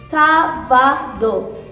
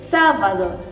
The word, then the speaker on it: sábado: So in this part, the first part of the word we have to pronounce stronger, okay? So it is sábado.